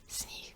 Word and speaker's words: sníh: Same with sníh, sníh. I'm not saying sníh, sníh. I'm saying sníh. This is a word for snow. Sníh, sníh, sníh, not sníh.